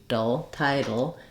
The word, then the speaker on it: title: The second T, title, is a flap and it sounds more like a D.